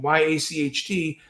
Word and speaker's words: yacht: That means, can you begin to memorize those letters from Y-A-C-H-T are pronounced yacht?